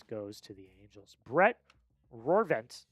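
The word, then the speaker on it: Rortvedt: Brett Roarvent, how do you pronounce Ben? Ben Roent.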